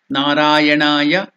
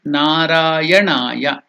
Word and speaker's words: Narayanaya: So while pronouncing it should be Narayanaya, not Narayanaya. So please don't make the mistake of telling Narayanaya. It is not Narayanaya. It is Narayanaya. It is Dirgha. Na-ra-ya-na-ya.